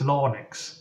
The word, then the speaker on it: larynx: passing through our larynx or logs is that how you pronounce it it's l-a-r-y-n-x I think it's lonix words have real power